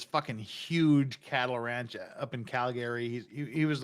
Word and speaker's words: Calgary: to school thank you so much for not pronouncing it Calgary yeah and no one pronounces like that it's Calgary and Toronto Toronto yeah Toronto because Toronto is